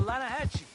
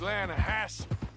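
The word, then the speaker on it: Lannahechee: river no no no no no the the lana hatchy it runs right near here yeah but it's pronounced land hassle why is everything in english said differently than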